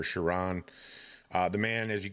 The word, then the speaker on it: Sheron: I think it's pronounced Sharon or Sharon.